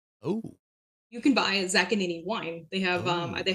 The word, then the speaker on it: Zaccagnini: They they either overpronounce the G like Zag Kagani like Siri. That's how Siri does it. Zag Kagini.